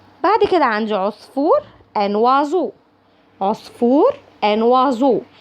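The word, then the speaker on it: oiseau: هنا الاو اي بتتنطق وا، والاو اي الاخرانيين زي خدناها قبل كده زي طابلو بيتنطقوا او. ان وازو. او اي اس او ا يو. او اي اس او ا يو. ان وازو. ان وازو. وازو. وهنا حرف الاس قبليه حرف فويل متحرك بعديه حرف فويل بيتنطق زي الزين.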